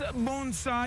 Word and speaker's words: bonsai: the art of bonsai did i say it right bonsai yeah and look at this